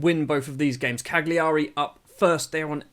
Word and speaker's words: Cagliari: gonna be up against Cagliari or Cali Ari I don't know I've always caught it Cagliari I've it's like a hard G in there I don't know that's